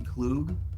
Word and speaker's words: Klug: I always get your last name wrong. It's actually Klug.